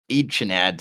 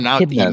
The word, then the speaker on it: echidnas: You should teach Jericho about Echinads or whatever that's called because he Echidnas.